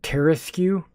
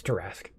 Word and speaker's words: tarasque: those and can you believe that someone actually pronounces that tara skew oh what monster would do that no the tarasque and it's terra skew but that's not how you pronounce it's terrasque um reflective carapace it's too rasky to go